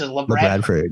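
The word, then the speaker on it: Labradford: In fact, I didn't actually know how to say that. That's how they say it. That's how it is. La Bradford.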